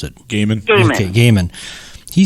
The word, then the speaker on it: Gaiman: How do you pronounce it? Gaiman.